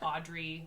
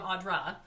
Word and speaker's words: Audra: And then they'll call me like Audrey. Like all my whole life, people have mispronounced my name. Wait. So I'm Audra.